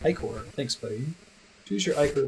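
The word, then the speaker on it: ichor: can fill it with magical eor that's pronounced ior thanks buddy choose your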